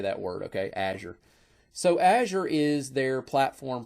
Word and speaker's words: Azure: Okay, by the way, that's how I pronounce that. You may pronounce it different. Azure, Azure, I've heard it pronounced Azure.